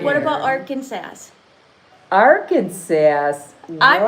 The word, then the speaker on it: Arkansas: What about Arkansas?